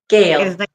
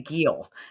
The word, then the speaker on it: Gehl: easy to pronounce it's you pronounce it like it's g a l e or g a i l anyway okay I was gonna say Gil so that's why I